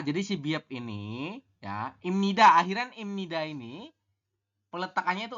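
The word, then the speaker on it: 입니다: anda akan membacanya ibnid padahal ya mengenai aturan baca nomor 3 ini di nomor 3 ini bahwanya nya ada bep di bawah ketemu dengan niion di samping maka Bie berubah bunyi menjadi miem maka kita membahasnya adalah Im ni da seperti ini y robbunnya kita membacanya adalah imnida mana yang berubah yang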